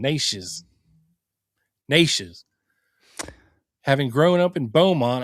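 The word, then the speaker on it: Neches: through Bowmont is pronounced Nishes or Nishes. The name is pronounced with a long a sound rhyming with neighbors. So nay neighbors. Nishes followed by a shez or shiz sound. Nishes. Nishes.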